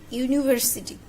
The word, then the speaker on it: university: Okay, here is university. U, university. The pronounced is U.